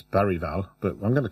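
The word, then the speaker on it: Bergvall: Madison uh bergal who apparently his name is not pronounced beral it's baral but I'm going to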